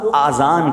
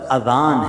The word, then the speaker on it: اذان: نیکیاں کما سکتے ہیں۔ بعض لوگ آذان کہتے ہیں، یاد رہے پہلے اذان کہتے کس طرح ہے، اس کا تلفظ سے بچ لیں۔ آذان اذن کی جمع ہے، اذن کہتے کان کو، یہ آزان نہیں ہے، یہ لفظ اذان ہے، ٹھیک ہے؟